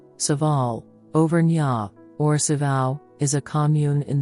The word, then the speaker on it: Orcival: glass windows Our Lady of oral oral French pronunciation saal overa oral is a commune in the Pu de